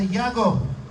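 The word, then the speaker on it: יעקב: a santiago bueno porque jacob en hebreo se pronuncia y hago después la iglesia les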